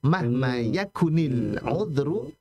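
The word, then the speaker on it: مهما يكن العذر: Mahma yakun aludru. Asalnya begitu ya. Mahma yakun aludru. Tapi kalau kita bacanya secara menyambung, mahma yakunil uzru.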